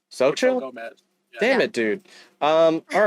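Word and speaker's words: Xochitl: it yeah it's pronounced so chill it's literally pronounced so chill so chill damn it dude um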